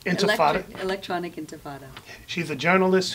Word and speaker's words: Intifada: She works for Intifada. Did I pronounce that correct? Intifada. Intifada.